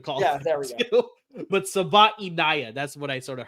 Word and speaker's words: Savaiinaea: And that is the player out of Arizona, Jonah Savaiinaea. Oh, is that how you say it? I had to listen to it on the Arizona website with the audio or whatever of him actually saying it.